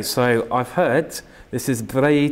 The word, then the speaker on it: Bragi: Okay, and of course it looks like Bragi because it's B-R-A-G-I. Yeah. Just how you say it.